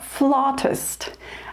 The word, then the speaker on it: flautist: They do not pronounce it like we do. We say flautist, I believe because that's pretty close in pronunciation to the Italian word for flute, which is flauto. But they pronounce it more flautist.